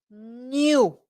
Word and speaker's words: knew: Knew. Knew. Es como, no se escribe así, pero es como N-I-U para ustedes. Knew. Casi.